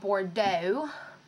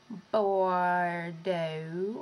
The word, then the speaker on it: Bordeaux: pretty and it's called Bordeaux bordo or bordo but I'm pretty sure it's pronounce bordeau and yeah so that